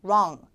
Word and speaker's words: wrong: 자, wrong 할 때 혀가 윗니에서 떨어져야 돼요. 다시 해보세요. wrong. 자가 진단을 자꾸 해보세요. 저랑 같이. wrong.